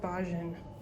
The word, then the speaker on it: Bajan: I actually think it's pronounced Bajan, because that's how the tour guide was saying it.